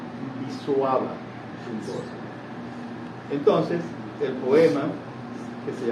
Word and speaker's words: Szymborska: me dijo que que no se dice shimborta, sino que se dice visuaba.